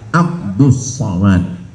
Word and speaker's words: Abdul Somad: Tulisannya Abdul Somad, tapi membacanya adalah Abdus Somad.